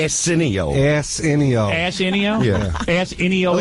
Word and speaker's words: Arsenio: I don't think you're pronouncing his name right. What is his name? Arsenio.